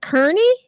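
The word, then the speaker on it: Kearny: up on his parents' family farm in Southwest Kernney. Correct. You pronounced it right.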